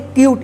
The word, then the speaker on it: cute: CUTE, इसको क्या पढ़ेंगे? क्यूट। इसको कुत्ते मत पढ़िएगा।